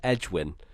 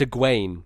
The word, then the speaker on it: Egwene: Her name is spelt Egwene, and in my head, I'm just pronouncing it as Edwin the whole time, Edwin. And what apparently, is it meant to be? Egwene? It's Egwene. Egwene.